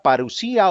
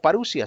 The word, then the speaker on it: parusía: Hagamos un análisis de la palabra parusía o parusia, según como lo quieras pronunciar.